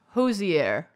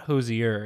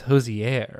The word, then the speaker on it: Hozier: According to Hosier, it's Hosier. Get out of here. It's okay. Hosier. Hosier. That's It's not Hosier. It's Hosier.